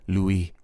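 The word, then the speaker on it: Louis: get the point Ben Julia Lewis dfus which I think is how you say her name posted a picture with Messy makeup Julia Louie d oh it's French post uh she posted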